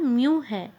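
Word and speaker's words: μ: तो यह अंक ग्रीक अक्षर, ये ग्रीक अक्षर है, म्यू से प्रदर्शित किया जाता है और उसका उच्चारण म्यू है ना, म्यू है।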